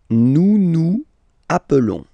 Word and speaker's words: nous nous appelons: Nous nous appelons. Okay, so I will make the liaison.